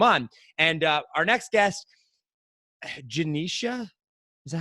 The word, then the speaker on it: Genecia: And our next guest, Genecia, is that how it's pronounced, right?